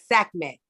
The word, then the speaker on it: Sekhmet: Sekhmet.